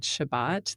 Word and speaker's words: Shabbat: Sabbath uh which is I pronounce it Shabbat the Hebrew pronunciation it's something that I